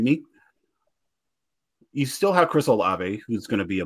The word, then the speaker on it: Olave: we're watching behind me you still have Chris olave who's going to be a monster in which I finally pronounce his last name correct and outside of